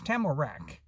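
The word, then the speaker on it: Tamarack: me his name was tamarak and the way he pronounced it the emphasis was on the third syllable on rack so so he didn't want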